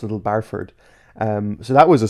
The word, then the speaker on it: Little Barford: I was like oh it's actually little barford not little Bradford cuz I even even in the even in the title I call them little Bradford even though it's little barford um so that was